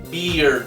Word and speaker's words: beard: Y aquí barba, beard. Es igual que este, bueno, similar, pero aquí tienes que pronunciar la D, ¿ok? Aquí no pronuncias nada.